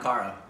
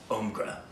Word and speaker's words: Omkara: Sounds like okra. Not Omkara. Omkra.